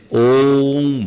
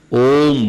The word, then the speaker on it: ओम: कही है एक्चुअल में ओ का हम नाथ करें तो नाभि से अ की शुरुआत करें हृदय तक आते हुए उ कंठ तक आते हुए ओ और फिर ओस्ट तक